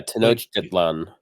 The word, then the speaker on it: Tenochtitlan: parts, you don't actually like it's very just Tenochtitlan? like as it's read. Yeah, Tenochtitlan. yeah, Tenochtitlan.